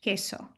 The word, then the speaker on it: queso: other one is that the U is pronounced after the queue in English like question but it's not pronounced in Spanish queso it's um so you